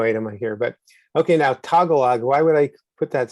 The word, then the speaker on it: Tagalog: Tagalog. Is that how you say it? Tagalog, yeah. Tagalog?